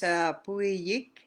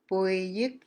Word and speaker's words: Puyik: Okay, pronounce seal is Puyik and Piyuk. Puyik is seal. Piyuk is good. Puy, Puyik. Piyuk. They sound so close, eh? So you gotta be really careful when you're pronouncing that that as well.